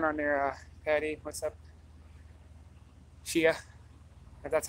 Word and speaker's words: Chia: hey what's going on there Patti what's up Chia that's how it's pronounced and Wow I haven't seen one of